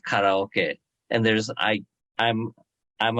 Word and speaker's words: karaoke: or Peru but uh Americans now say karaoke instead of karaoke and there's I I'm